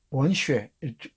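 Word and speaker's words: 文学: 원슈에, 문학 이렇게 써놓고 중국어로는 원슈에라고 발음한다 그랬죠?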